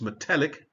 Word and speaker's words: metallic: Now in this case, it does actually change the stress to the second syllable there. So it's metallic.